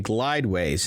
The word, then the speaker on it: Glydways: Silicon Valley autonomous transportation company Glideways, and that's spelled Glydways, has won a contract to build an experimental half-mile transit system in Atlanta, Georgia.